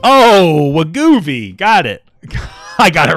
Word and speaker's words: Wegovy: How do you pronounce that? Wegovy. Oh, Wegovy.